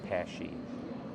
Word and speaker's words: Paasche: So many different ways that they say it, and the real pronunciation is Paasche.